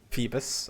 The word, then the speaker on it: Phoebus: There's like 2 years where I couldn't pronounce Phoebus. I kept saying Phobos.